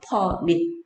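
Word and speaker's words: ‰: 근데 여기에서 이렇게 동그라미 한 개하고 동그라미 두 개를 이렇게 해놓는데 읽을 때 뭐라고 읽냐면 퍼밀이라고 읽어. 퍼밀.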